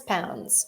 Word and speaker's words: lbs: the weight yep pronounce pounds exactly so if you see lbs written somewhere you can say pounds very strange I agree